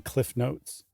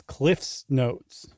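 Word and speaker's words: CliffsNotes: We are doing the brief overview of Cliff's Notes. I said it wrong the first time. It's never been Cliff Notes. It's Cliff's Notes.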